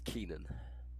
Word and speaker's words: Keenan: say your name sorry ignore the way it's spelled in this game it's Keenan Keenan yeah that's the